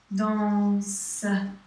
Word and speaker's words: danse: Il, elle danse. You don't really have a sound at the end. You just say danse.